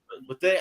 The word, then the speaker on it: Bethea: It's Anton Bethea, right? Bethea. Bethay. How you pronounce his last name? Bethay. Haitian. Antoine Bethay. That's how you pronounce his name?